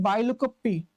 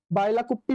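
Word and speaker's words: Bylakuppe: बायकोप्पी। बायकोप्पी बोल सकते हो आप या बायकुप्पी बोल सकते हो।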